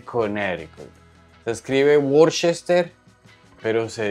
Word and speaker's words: Connecticut: salmon sin la l se escribe Connecticut pero se dice conic se escribe worchester pero